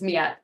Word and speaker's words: Miet: last name pronounce itet metet yeah oh my gosh thank you I no one ever pronounces it correctly but yeah it's it's metet miet what an